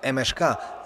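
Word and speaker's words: MŠK: zawodnicy krakowi No bo zawodnicy MK bo tak się dokładnie wymawia nazwę tego tego klubu oddali piłkę leży za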